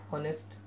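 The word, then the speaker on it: honest: ठीक है दोस्तों, इसी तरह है ऑनेस्ट। एच साइलेंट है, ओ की आवाज़ निकलती है, एन लगता है।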